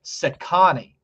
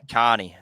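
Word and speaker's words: Cecconi: on in different shows here is how you pronounce Slade Sani that that that is his last name Sani all right s so get used to saying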